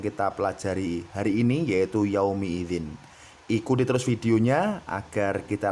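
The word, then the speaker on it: يومئذ: Jelas sekali di sini berharokat kasroh sahabat Quran. Hati-hati jangan sampai salah baca, jangan sampai salah baca kita membacanya fathah yauma idz, tidak ya sahabat Quran, tetapi harus dibaca sesuai dengan harokat yang tertera di sini.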